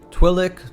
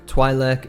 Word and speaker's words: Twi'lek: A quick side note here about the pronunciation: Twi'lek, Twi'lek, and Twi'lek are all canonically correct ways to pronounce their species, and you'll even hear members of this species use these different pronunciations.